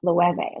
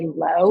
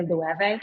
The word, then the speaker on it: Loewe: knows how to pronounce Loewe. Like, remember when nobody knew how to pronounce Loewe and you could really tell like a fashion person from a non-fashion person because they'd say low.